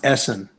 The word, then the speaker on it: Essen: going to yeah awesome no it's pronounced Essen awesome or all will